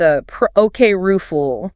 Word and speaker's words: apocryphal: Pronounced a ruful. A peru. And we absolutely must hit that P stress right and ensure the little R sound in the middle is distinct, not swallowed.